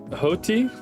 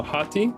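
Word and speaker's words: ὅτι: believe the nice this this one also has a rough breathing Mark over it so it's an H Omicron to uh Yota so hotti no hotti hotti and hotti means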